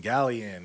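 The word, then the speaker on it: Gaelion: is Gil Gil gallan gallion yeah gallion like the gold gallion but it's spelled like the G AE yeah so it isn't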